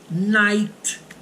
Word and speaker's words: night: Uma delas é quando o I for seguido pelo GH. Esse GH, normalmente, ele é mudo, tá? Então, por exemplo, Nesse caso, terá o som de I. Vocês lembram de light, luz, olha lá, light. O GH você não fala.